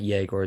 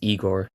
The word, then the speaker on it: Igor: And we have to make sure we pronounce his name correctly because it's it's Eigor, not Jagor. It's Igor.